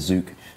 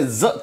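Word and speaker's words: Zuk: He says Zook. I'm not saying I that. don't. I say Zuck because it's a U and not 2 O's.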